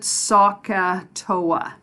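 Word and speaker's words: SOHCAHTOA: so this acronym is a crazy word we pronounce it sokka Toa okay and you'll notice that there's three letters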